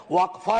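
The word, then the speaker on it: वक़्फ़: और अलग अलग लोग इसका प्रोनाउंसिएशन अलग करते हैं, कोई वक्फ बोलता है, कोई वकफ बोलता है।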